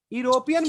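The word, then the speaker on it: European: इसमें भी ई और यू आए हैं साथ में, तो यहाँ पर ई की साउंड साइलेंट है और यू की साउंड यू से आ रही है। यूरोपियन बोल रहे हो कि यूरोपियन बोल रहे हो?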